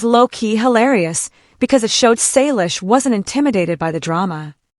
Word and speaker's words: Salish: with a question mark, but thank you for pronouncing it right. You're right, it is Salish.